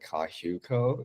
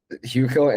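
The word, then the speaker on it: HYUKOH: I listen to this band, this Korean band Kahuko a lot. Um, uh, it's spelled H Y U K O H. They're like this indie band based out in South Korea. They're like so good. Um, Huo and Sunset Roller Coaster.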